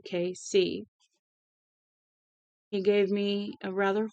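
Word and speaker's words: Cayce: when I corrected him you say it like the initials for Kansas City KC he gave me a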